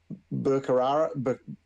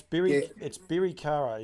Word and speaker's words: Birikara: Birkara. Birkara. Birikara. No, it's Birikara is actually what it is.